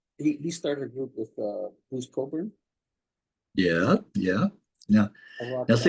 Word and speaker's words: Cockburn: I know how to pronounce his name now because I said Cockburn. I said Cockburn. Oh, I Right, because that's how it's spelled, right?